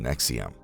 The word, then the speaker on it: NXIVM: NXIVM, pronounced NXIVM, started in the late 1990s as self-improvement group offering courses known as Executive Success Programs.